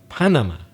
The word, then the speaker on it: Panama: changed the pronunciation of English and we stress the first syllable we say Panama in Spanish you stressed the last syllable but in emissions panama